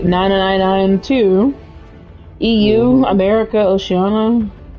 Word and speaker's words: Oceania: EU, America, Oceania. Oceania? Or Oceania? I don't know how you pronounce that. Asia. It's Oceania.